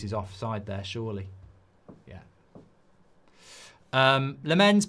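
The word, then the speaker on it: Lammens: Lamens put the stress on the first part.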